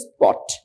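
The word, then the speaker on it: spot: যদি ভুলে না যান সো আমরা জানি পি ওটি এটার উচ্চারণ ঠওয়ার কথা কিন্তু এস আসার কারণে এ কি হয়েছে স্পট স্পট রাইট স্পট এটা কিন্তু ঠ হয়েছে এই পি কিন্তু পয়েছে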